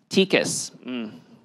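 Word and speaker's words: TICAS: Did I pronounce it right? TCAS. 15 years, been saying it wrong.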